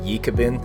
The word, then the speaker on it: Ekibin: is named ebin which comes from an Aboriginal word you pronounce it yabin apparently means good eating